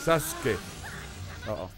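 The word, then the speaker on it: サスケ: Es la pronunciación correcta, es Sasuke. Sí tienes que pronunciar la U, nada más que...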